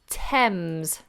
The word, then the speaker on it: Thames: if it's voiced okay there are very few occasions where a th is not pronounced in this way for example the words Thames like the river in London pothole Thomas which is a boy's name and Theresa which is a girl's name now these particular example